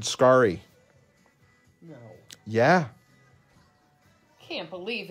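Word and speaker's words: Scarry: all say it wrong richard scary i think is richard skari no yeah i can't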